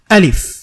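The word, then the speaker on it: ألف: তাহলে আমরা বুঝতে পারলাম আলিফ হরফটা আসলে শক্ত একটা হরফ এবং এটাকে শক্ত করে উচ্চারণ করতে হবে আলিফ আমরা আস্তে আস্তে এভাবে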